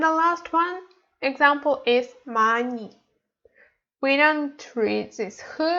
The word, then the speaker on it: 많이: And the last one example is 많이. We don't read this H, we read just 만 plus E. So we have to read it like 많이.